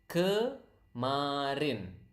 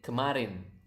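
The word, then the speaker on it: kemarin: yesterday it isarin okay again repeat up to me so that you can pronounce the word correctly Karin natural speed Karin Karin okay that's yesterday now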